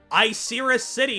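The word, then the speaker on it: Icirrus City: Uh, impressive gym leader of uh, Iserus City is apparently how it's pronounced, which I don't love, but h I'll deal with it.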